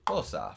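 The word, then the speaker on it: Xhosa: was also translated into fosa for the end credits of the lion king 2019. spelled with an xh which makes a clicking sound is a south african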